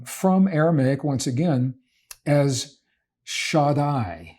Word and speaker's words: Shaddai: Typically translated from Aramaic, once again, as Shaddai. Shaddai is the way that this is pronounced, and it literally means Almighty, or El Shaddai, meaning God Almighty.